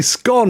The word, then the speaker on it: scone: deeper and down haha a scone in front of me is definitely scone he's got it he's the man has got it if you remember that you'll never get it wrong a scone is gone absolutely that's how it